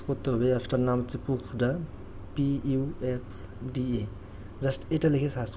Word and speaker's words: Puxda: Play স্টোরে search করতে হবে, অ্যাপটার নাম হচ্ছে পুক্সডা, PUXDA। জাস্ট এটা লিখে সার্চ করবেন। দেখেন বানানটা আবারও দেখেন, এখানে উচ্চারণ এখানে হচ্ছে PUXDA, এটা লিখে জাস্ট সার্চ করবেন।